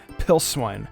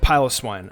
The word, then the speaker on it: Piloswine: at Hill swine yeah I used to pronounce pillow swine's name pill swine or is it piloswine I'm gonna say piloswine I used to struggle